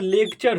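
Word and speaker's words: lecture: इसी यू आरई को यदि किसी वर्ड के अंत में यू आरई मेरे दोस्त आ जाता है तो यू आरई को समझने का ज्यादा प्रयास हम लोग करेंगे इसी यू आरई को अ प्रोनंसिएशन किया जाता है ठीक इसी इसी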